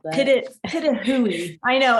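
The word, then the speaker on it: pitohui: Pitahui. I know, it's weird. Pitahui is how you say it.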